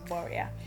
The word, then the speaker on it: Boriah: shorten it to boria the actual pronunciation is borea but i had a